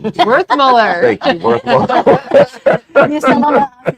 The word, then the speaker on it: Werthmuller: Werthmuller.